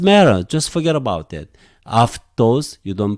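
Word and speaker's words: αὐτός: So you have to ke, aftos. You have to pronounce like this, aftos.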